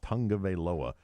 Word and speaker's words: Tagovailoa: Is that how you really say his name? That's how you say his last name. Wow. Tagovailoa.